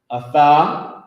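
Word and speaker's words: אַתָּה: And how you say it is atha, meaning you.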